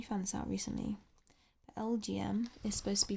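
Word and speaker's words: Elgyem: But LGM is supposed to be pronounced like LGM.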